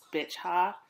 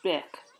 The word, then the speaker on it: Bich: Mama Pan, her name looks like it should be pronounced Bich Ha, which is so disrespectful because it's pronounced Bick, and she's a lovely